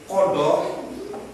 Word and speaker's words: qada: Kodo dalam tulisan itu ada, dibacanya kodo.